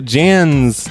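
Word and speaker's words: Jaan: other line now so Jan's name is it's spelled J a a n so it's Jan I think I'm gonna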